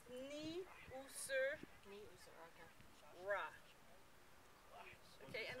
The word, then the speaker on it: Niuserre: So when you pronounce it, you didn't pronounce the N sound. It's Niuserre.